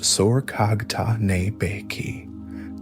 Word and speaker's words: Sorghaghtani Beki: The great political architect of this Toluid ascent was Sorghaghtani Beki, pronounced Sorghaghtane Beki, the brilliant, highly intelligent widow of Tolui and mother of the four great Toluid princes, Monke, Kublai, Hulagu, and Arik Boke.